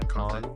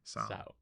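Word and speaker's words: Conceição: Sao. Sao. Sao. It's Brazilian, Portuguese.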